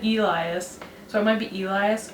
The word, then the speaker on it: Elias: So I've been saying Leia, but it's Laya, and instead of Elias, it's Elias. Or Eli, it sounded like she said Elias, so it might be Elias or Elias.